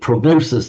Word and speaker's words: prognosi: It's the Greek prognosis that we use in modern medical terms, medical prognosis. Do you use it in Italian as well, Marco, prognosis, in medical terms? Prognostic. Yeah, but we pronounce it prognosi.